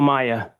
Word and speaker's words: Maia: State your name and spell it for the record. Maya.